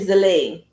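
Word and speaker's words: Zélie: It's actually Zile. Zile, yes, Zile. That's it's spelled Zelie.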